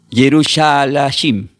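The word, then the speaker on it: Yerushalayim: Y el nombre Jerusalén del hebreo se pronuncia como Yerusá la Yashim.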